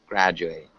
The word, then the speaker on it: graduate: graduate can you repeat graduate graduate pose it's got a juris ound graduate deadly yeah so make sure you get it's not a d it's more of a J graduate mmhmm yeah you know